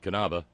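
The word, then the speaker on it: Knabe: not curry Thurston no there are no silent letters not even K's in German for instance kanava pronounced kanava the english cognate is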